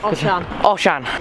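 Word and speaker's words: Osian: I need to pronounce it correctly. Oshan. It's Welsh, it's Celtic Welsh.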